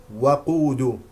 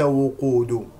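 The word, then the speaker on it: وَقُود: من سوره ال عمران وقود بفتح الواو و وقود وليس وقود والاميين هكذا هكذا هكذا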